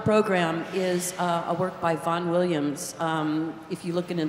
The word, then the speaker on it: Vaughan Williams: First on the program is a work by Vaughan Williams. If you look in the program, it looks like Ralph, but he liked it pronounced Rafe.